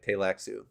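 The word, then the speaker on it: Tleilaxu: combat though just keep saying the first LS silent and if you come to you should say tailaxu play I don't think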